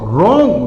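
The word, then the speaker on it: wrong: फिर देखो रॉन्ग रॉन्ग यानी गलती या भूल। इसमें भी डब्ल्यू साइलेंट रहेगा। सीधा आप यहां से बोलोगे रॉन्ग। डब्ल्यू इसमें साइलेंट रहेगा।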